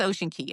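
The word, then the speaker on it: Ocean Cay: And honestly, I've heard people from MSSE say it both ways, but I think it's Ocean Key. I believe that would be the correct way to say it in the Bahamas.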